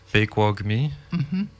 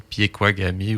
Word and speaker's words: Pekuakami: Ouais, Au lieu de dire, comme je l'imagine, Piequagami ou Ah, dire Pequagami. Sinon, parce que là, ça, c'est 4 syllabes, mais toi, tu le dis en 3. Pequogmi, 1, 2, 3.